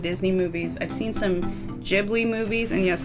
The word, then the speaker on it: Ghibli: if you guys want to know the actual pronunciation it's Ghibli because I read the kind of blah blah